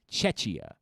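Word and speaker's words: Czechia: just c it's c it's spelled the same way c z e c h i a chechia and that's apparently what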